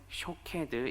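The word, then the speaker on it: שֹׁקֵד: 그대로 실현할 것임을 보여줍니다 이 살구나무 라고 하는 히브리어 단어는 샤 캐드 입니다 그리고 이 지킨다 라는 히브리어 단어는 쇼케이 드 입니다 이 발음이 비슷한 두 단어로 언어 유의적으로 사용을 합니다 앞서 하나님께서 예레미야를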